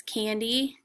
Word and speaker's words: Candy: this way so like my name is candy and the accent usually for a two-syllable name is on the first syllable can d so you say that word with more power here you say this that syllable with more power candy uh if we said it the opposite way and put the accent on the second syllable you would call me candy or my name is